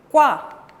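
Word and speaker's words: 과: ¿Cómo se va a pronunciar? Qua.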